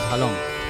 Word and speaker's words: ঝালং: হ্যাঁ, ঝালং, এই ঝালং, ঝালং উচ্চারণটা হচ্ছে ঝালং, ঝালং এবং বিন্দু।